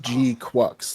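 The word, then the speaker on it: GQuuuuuuX: and but it's pronounced G quux like the Q is a k yeah gqu but in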